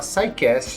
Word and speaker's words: SciCast: Se chama SciCast. SciCast se escreve SCI-Cast, né? O SCI é de Science, então é o Sci, né? Sci-Fi, por exemplo, é o SciCast.